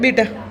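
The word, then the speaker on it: beta: थीटा alpha बीटा gamma, बीटा है ना। वापिस से क्या बोला? थीटा alpha बीटा gamma. Pronunciation match करना है ना। इसको थीटा मत बोलना, इसको बेटा मत बोलना, है ना।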